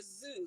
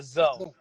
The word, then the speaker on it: Zoe: Is it Zoe or Zoo? Zoe? The Zoe. The Zoe, okay, which was the winner